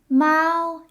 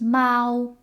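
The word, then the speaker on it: 猫: that means you like Mao is the word for cats or a single cat so that's pretty easy because it sounds like the noise that the cat would make meow so it's just Mal and things in Chinese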